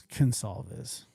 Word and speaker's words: Gonsalves: That's selfish of me to single them out because It's Gonsalves. Every family lost. Like a C, but it's a G, but it's pronounced with a C.